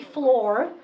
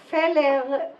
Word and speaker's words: Fleur: sweat first of all because flour nobody can pronounce okay so the Americans call me Fleur Fleur the Israelis called me fella Bailey if they call me up and they